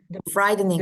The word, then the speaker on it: frightening: is frighten frightening Heeh fridening bacanya kayak t-nya itu kayak D gitu fridening the spider is